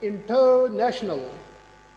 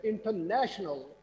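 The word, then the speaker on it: international: इंटरनेशनल stress किसको किया मैंने? टर। अच्छा, अगर ये टर स्ट्रेस हो फिर ये बनना इंटरनेशनल। मैंने ऐसा नहीं कहा, मैंने कहा इंटरनेशनल।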